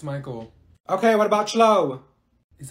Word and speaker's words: Michael: mean Beatrice thank you Mikhail ma'am it's Michael okay what about slow